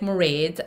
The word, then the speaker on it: Mairéad: It's very easy to pronounce my name if you rhyme it with parade. That's like Mairéad.